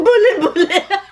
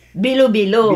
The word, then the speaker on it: bilo-bilo: Ang buli-buli. Ay, yung lizard. Nananakuro yan sa lupa. Bakit? Magkatunog naman ah. Ay, baligtar. Buli-buli ay bilo-bilo. Bilo-bilo, yun. Ayun, ang tamang bigkas.